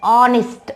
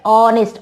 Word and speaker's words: honest: Honest. Honest. Oh, honest. H is silent here.